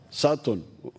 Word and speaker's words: Sutton: Sutton. This is the problem with the English. They write U, they say A.